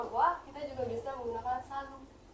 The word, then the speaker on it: salut: Atau selain au revoir kita juga bisa menggunakan salut. T-nya masih dibaca.